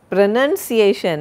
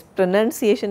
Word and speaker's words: pronunciation: Pronunciation, and it is pronunciation, it is not pronunciation. We pronounce, but it is called pronunciation.